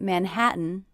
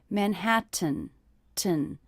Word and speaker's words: Manhattan: in manhattan in manhattan i noticed that the stressed syllable of manhattan is the middle syllable man hat also i hear that i'm not really pronouncing these teas as to tease that would be manhattan 10 but I'm saying man hat mmm with a little break that means these teas are stopped tease in manhattan in manhattan also the